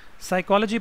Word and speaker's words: psychology: a consonant or knife psychology professor be silent s is a consonant a psychology professor so this is the